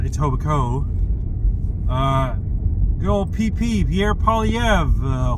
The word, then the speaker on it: Etobicoke: Actually pronounced Etobicoke.